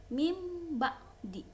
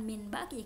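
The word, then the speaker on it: مِن بَعْدِ: ya, muhitum bil kafirin, mim ba'di, bukan min ba'di kan Umi bacanya, mim ba'di.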